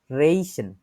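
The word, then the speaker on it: riechen: আমি দেখছি অস্ট্রিয়াতে গেছিলাম অস্ট্রিয়াতে ওরা হচ্ছে আবার খ এর মত উচ্চারণ করে আর কি এন এখানে রেইশেন শুনতেছেন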